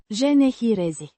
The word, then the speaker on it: generezi: Pronounced Genehirezi. with a soft E. at the end. The Ge. is as in gem, and the e in generezi is a short e.